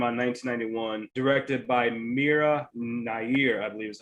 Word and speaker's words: Mira Nair: another one came out in 1991 directed by mira nair i believe is how you say it um